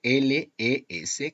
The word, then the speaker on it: les: Recordad que el definido plural es siempre L-E-S, que se pronuncia le.